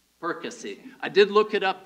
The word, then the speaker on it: Perkasie: Perkasie.